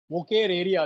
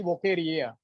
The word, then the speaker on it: Wuchereria: या very good, वोकेरेरिया। 2 बार आरी है बच्चों, तो don't say only वोकेरिया, इट इज वोकेरेरिया या उचेरेरिया भी बोलते हैं कुछ लोग, commonly known as ए फिलारिया worm.